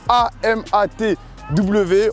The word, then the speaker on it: AMATW: Ce geste, mesdames et messieurs, il s'appelle le AMATW. On le prononce AMAT.